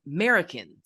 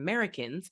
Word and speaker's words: Merikins: It's sometimes said that the term Americans derived from the local patois, but as many Americans have long been in the habit of dropping the initial A, it seems more likely